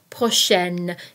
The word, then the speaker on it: prochaine: Prochain and prochaine both mean next, so be careful here because there is a difference in the pronunciation. Prochain, prochaine. Dernier, dernière.